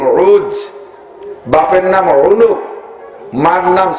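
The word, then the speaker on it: عوج: এর আরবিতে উচ্চারণ হলো আইন ও জিম, উজ।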